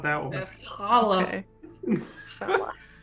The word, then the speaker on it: challah: Challah. Challah. That's how it's pronounced.